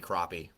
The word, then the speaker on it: crappie: have to say that it would be floppy crappie would be the pronunciation uh for the fishing.